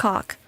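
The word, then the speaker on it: hock: It's like h o c k. But like if you say it like normally, I'm not You don't even have to say it fast. It just sounds like pork hawk.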